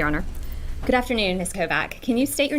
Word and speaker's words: Kovac: Good afternoon, Miss Kovac. Can you state your name for the jury, please, and spell it for the court reporter?